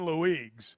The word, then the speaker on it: Luigs: We've had coaches over the years that have, like Jonathan Luigs. Yeah. The Luigs. correct pronunciation is Louis.